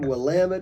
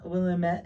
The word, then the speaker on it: Willamette: And then along came Willamette Valley in Oregon, northern Oregon.